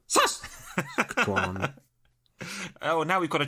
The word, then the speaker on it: Saskatchewan: And she also points out that we were pronouncing Saskatchewan. Saskatchewan. And Saskatchewan incorrectly. Wow. It went from Yoda to Karate Kid. That was a whole gamut. Emphasis is on the first syllable, apparently. Saskatchewan.